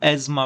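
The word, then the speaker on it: asthma: इसको हम एज्मा पढ़ते हैं। अस्थमा लिखते हैं और एज्मा आप लोग ए जेड एम ए इसको हम इसे प्रोनाउंस करते हैं।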